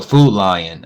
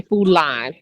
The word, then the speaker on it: Food Lion: chain um they had you said it right you're the first person I heard say it correctly all my friends from Virginia say food line food line and I'm like it's I for the longest I thought it was food line and it's food L